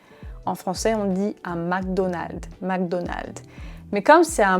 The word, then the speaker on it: McDonald's: En français, on dit un McDonald's, McDonald's.